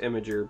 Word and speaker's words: Imgur: It's theoretically pronounced Imager, but I refuse to. Just like I refuse to say GIF.